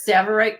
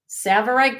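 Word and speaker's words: Tsavorite: This is a 1 and a4 karat savverite garnet.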